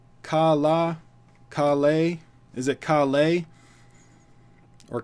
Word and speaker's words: Kaala: Rajinikanth new teaser Kalla is it pronounced kala because there's two it's kala Kalle is it Kalle